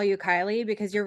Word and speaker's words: Kylie: I mean, no, it's um Kylie, like Kyle but with an E. Kylie.